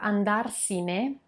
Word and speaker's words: andarsene: to ease the pronunciation when you have andare plus c plus ne the verb andarsine it's a bit more difficult to pronounce than if i open the